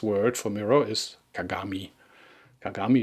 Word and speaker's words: kagami: Kagami is made of 3 syllables: ka, ga, and mi.